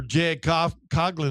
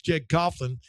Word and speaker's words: Jeg Coughlin: Uh so you know even uh remember Je Coglin and it was Jeg Coughlin wherever I say his last name I always said it wrong whenever I was around